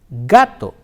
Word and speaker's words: gato: na ah katana now when the letter K comes to the wobble or is used with the bubbles ah oh and ooh the sound is girl the sound is girl like you have an English game gun go we'll see some examples